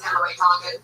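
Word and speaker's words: Kimberly Congdon: Kimberly Condon, spelled like it sounds, CONGDON. That's Kimberly Condon.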